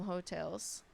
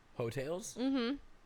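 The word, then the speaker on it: Heaux Tales: Jasmine Sullivan Jasmine Sullivan off of her album hotels hotels it's spelled h-e-a-u-x oh like go Tigers yeah yeah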